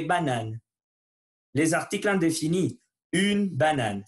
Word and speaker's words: banane: Une banane. Faites attention à la prononciation.